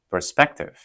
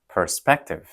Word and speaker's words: perspective: 이거는 우리가 두 번째 음절의 강세를 싣습니다. So, perspective perspective perspective 네, 이렇게요.